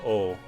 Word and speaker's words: を: Yeah, that O, it's pronounced O, is the object particle.